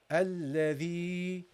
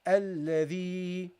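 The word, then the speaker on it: الذي: And because it is related to the kasra, you will prolong it, okay? The sound. So it will become alladhi. Okay, that's how you pronounce this, okay? Alladhi.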